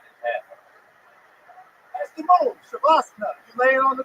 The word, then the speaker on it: Shavasana: It's pronounced Shavasana.